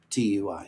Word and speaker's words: TUI: Tui is how I pronounce Tui.